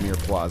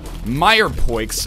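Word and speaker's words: mirepoix: probably soups made without Mir pla but I just wanted to say mirp I believe it's actually pronounced uh Meer Poes uh did I seriously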